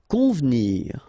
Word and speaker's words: convenir: Convenir. Okay, so the E here is not really pronounced, so first you've got this nasal, on, convenir, convenir.